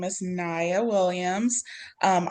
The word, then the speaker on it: Najya: me, my name is Niya Williams. Um I know there's a J in my first name. It's there for emotional support. Um but it is silent.